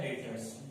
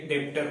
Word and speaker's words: debtors: तो यहाँ पे डेटर्स में जो बी है वो साइलेंट होता है। अगर आप नॉन कॉमर्स स्टूडेंट हो तो यहाँ पे जो बी है वो साइलेंट होता है, नहीं तो इसे हम लोग डेटर कहते हैं, लेकिन अगर बी को साइलेंट नहीं करेंगे तो ये डेप्टर हो जाएगा, तो हम लोग को डेप्टर नहीं बोलना, हम लोग को डेटर्स बोलना है, तो बी इसमें साइलेंट होता है।